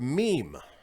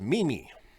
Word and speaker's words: meme: The word meme. M-E-M-E. Mimi. Yeah. Twitter user Jojo from Jers thought it was Mimi, which makes sense.